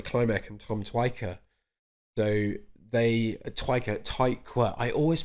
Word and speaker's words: Tykwer: So Twyker. I always pronounce that wrong, and I curse myself every time. Tricky name. Twyker. Tom Tykwer.